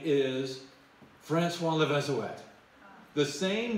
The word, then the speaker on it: Le Vézouette: Now, And by the way, that's how they pronounce the name, Levezoet. The T is at the end, and normally you would think Levezoe, and that's how we've been pronouncing it. But remember, we're not just in France, we're in Brittany, and in Brittany they have their own language, they have their own pronunciation of things. So we're now learning how to pronounce things in a Breton way.